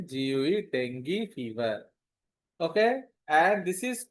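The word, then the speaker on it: dengue: Suppose somebody is having track Nexti pronunciation deni d e n gu deni fever.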